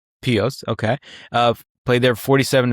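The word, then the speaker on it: Pihos: I think I think the H is silent. So, Pete Pio. Pio.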